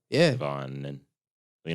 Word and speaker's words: Devonn: It's just a long N. I have a silent letter. Devonn. So I guess I have a silent letter in my name.